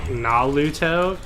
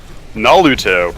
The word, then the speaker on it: Naruto: He does this thing where he pronounces Naruto as like Naluto. Naruto. Alright. It's not exactly that, but you know how like Asian people don't have R's?